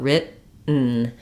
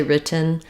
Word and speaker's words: written: but written and then I don't really say the schah here I just go directly to the n Sound it functions like a syllable that the letter N is cabic n meaning it it's both the consonant and the vowel sound the full syllable written